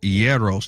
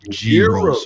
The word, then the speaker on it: gyros: All All I know is that the the raps are pronounced Yeros, not gyros or gyros.